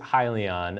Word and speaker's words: Hyliion: gonna say the name it is hi Leon and it stands for hybrid lithium ion so that was the